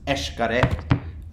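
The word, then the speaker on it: Xcaret: it's spelled X C a ret and it's pronounced H correct which is a mining pronunciation and it's one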